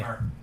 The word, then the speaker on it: Kremer: Kramer. Even with an E? It's still pronounced Yeah, Kramer?